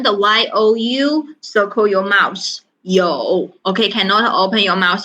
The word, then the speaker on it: 有: 有 make sure you pronounce clear 有 you tone mark number 3 meaning means have.